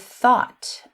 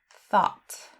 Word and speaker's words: thought: And the same with thought, O-U-G-H-T, it makes an ought sound, thought.